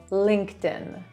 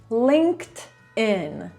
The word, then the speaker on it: LinkedIn: To będzie w ogóle oddzielny odcinek, ale ta firma, jej prawidłowa wymowa to LinkedIn. Linked, no bo tutaj mamy po prostu końcówkę ed in Linked in Linked in I found the job on LinkedIn.